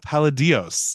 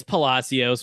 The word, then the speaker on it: Palacios: to my show paladios did I get your last name right it's Palos but you got you got the the pronunciation right just the wrong consonant but fine it's fine